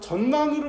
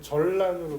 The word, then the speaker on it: 전란: 어 전난이 전 전난으로 발음하면 안 돼. 유 그렇지. 전란으로 발음해야지 그지?